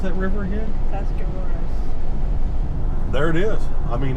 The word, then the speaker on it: Tuscarawas: How do you pronounce that river again? Tuscarawas.